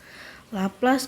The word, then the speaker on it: Laplace: er cantik ini ya Nah bacanya laplace laplaz dari kalau kalau ini